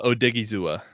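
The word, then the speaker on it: Osa Odighizuwa: Get a really big meaty guy if they're the defensive tackle that they like as Osa Ozu. How do you pronounce that? Osa Odigizua.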